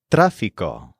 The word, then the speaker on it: tráfico: The word for traffic is tráfico, spelled Trafico with an accent on the A.